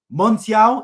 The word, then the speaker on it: Montiel: done it again so fair play to them Montiel is how you pronounce his name winning penalty in the World